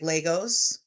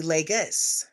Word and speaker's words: Lagos: I was pronouncing it like Legos, like you build with Legos. And it's actually Legos. The person said it's Legos like Vegas.